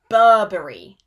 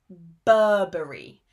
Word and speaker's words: Burberry: the most important British brands and their correct pronunciation. So the first brand is Burberry.